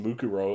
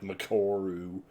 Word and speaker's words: Mukuro: God, the ways I pronounced Mukuro Ikusaba's name, I was like, Makoru.